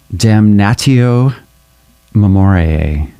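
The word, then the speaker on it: Damnatio memoriae: Called Damn Natio Memorial. I had to look up the pronunciation.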